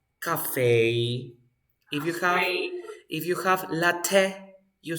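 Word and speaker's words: café: ballet ballet if you have Cafe you say Cafe if you have latte you say latte of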